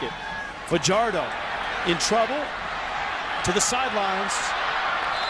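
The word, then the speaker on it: Fajardo: the world the Wolfpack down by six Cody Pichardo rolling throwing quickly top down by Jericho Richardson out to the 34 yard line now many would pronounce his last name for hard o he pronounces it for jardim he said he does that because as a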